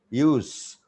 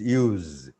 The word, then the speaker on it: use: is not pronounced handkerchief use when it's a noun it pronunciation is use but when it's a verb it pronunciation is used so according to the